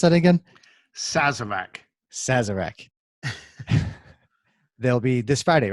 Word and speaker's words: Sazerac: Be sure to check that out for the how to make a, how do you pronounce that again? Sazerac.